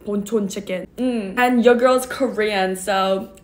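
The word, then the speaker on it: Bonchon: chicken some people say ponchon but in Korean it's actually pronounced ponon chicken and your girl's Korean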